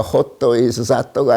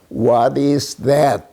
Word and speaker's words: what is that: 다시 그 배우기 시작한 거는 이제 미군들이 들어와서 미군들이 그렇게 하는게 아니라 호도 is사또가 아니라 what is that? 이렇게 하는데 그 발음을 고치는데 상당히 시간이 걸려죠.